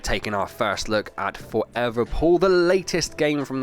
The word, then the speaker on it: ForeVR: all the forever games I want to say forever it's spelled for VR um just in case there's